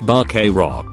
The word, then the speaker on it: vaquero: Related real fact: the term buckaroo is an anglicization of vaquero, pronounced very roughly like vaquero.